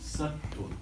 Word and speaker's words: sattva: Sattva. S-A-T-V-A. S-A-S-A-T-V-A. Right. T-V-A. How do you pronounce it?